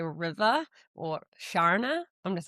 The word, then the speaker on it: Sharna: Like when Americans say river or Sharna, I'm just like, "Okay, here we are." But mine, like, good. it's like the R is silent in New Zealand. Yeah. Shana.